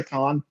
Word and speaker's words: Kon: I think it's pronounced Satoshi Kon. Oh, Kon. Either way, most people say Con.